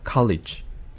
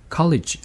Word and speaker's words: college: 그래서 college 하라고 할 때는 E 모음이 없어요. 그래서 college 해버리면 이상한 발음이 되는 거고 그런데 에너지라고 할 때는 이 몸이 있어요.